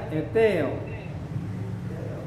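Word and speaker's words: αἰτέω: Maka dibaca eteo. Jadi dari awalnya, jadi dia meninggi. Eteo.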